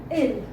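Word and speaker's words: ils: like you know he in plural so we pronounce it ill and this is same pronunciation L as we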